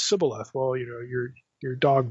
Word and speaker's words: shibboleth: No, it's Sibboleth. Well, you know, you're dog meat now. You know, it's a dialectical difference in the pronunciation of a particular term that distinguished where a person was from.